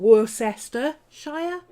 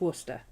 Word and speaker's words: Worcester: not glaucester it's gloucester it's not worcester shire it's worcester i like the fine